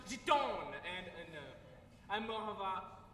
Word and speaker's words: Gitanes: It's pronounced giton, and I'm more of a Marlboro man myself.